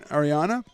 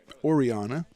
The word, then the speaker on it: Oriana: So it's 0-2 on Ariana. Oriana, I think, is the proper pronunciation on that.